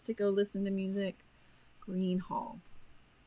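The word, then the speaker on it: Gruene: go listen to music Green Hall it is pronounced green um and again a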